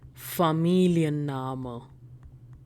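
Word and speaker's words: Familienname: Don't make pronunciation mistake here by saying family. It's famil.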